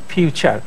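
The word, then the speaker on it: future: এফ ইউ যদি ফু হয়, টি ইউ টু হয়, আর ফুটুরি হওয়ার কথা ছিল, কিন্তু দেখেন এখানে এফ ইউ তে উচ্চারণ হচ্ছে ফিউ, আর টি ইউ তে হচ্ছে চা, ফিউচার।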